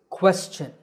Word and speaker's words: question: Well, the correct pronunciation is question. The first syllable is made with a k combined with a w sound by rounding your lips. Quest. The second syllable is chin, like your chin.